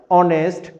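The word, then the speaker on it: honest: কিন্তু ব্যতিক্রমের বেলায় এইচ এর উচ্চারণ যখন অ অথবা আ হবে, যেমন আওয়ার, অনেস্ট, অনারেবল, তাহলে এখানে এইচ এর উচ্চারণটা হ হয় নাই, কি হয়েছে? অ বা আ হয়েছে।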